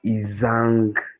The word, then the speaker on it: Isang: isang Joel da yes it's a Nigerian name from kind of nor region so this my son name is isang yes so yes distress comes at the last syllable yes isang isang Goodness